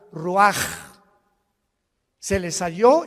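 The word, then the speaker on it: ruach: Y exhaló Isaac el roach, así como suena. Se pronuncia la ch en hebreo como J. Roaj, se le salló y se traduce espíritu.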